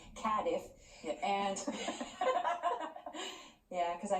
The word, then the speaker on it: Cardiff: we started in okay they taught me how to say this properly cadif yeah and yeah because